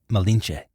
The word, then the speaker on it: Malinche: Malintzin, or Malince. The Spanish couldn't pronounce this, so they called her Malinche.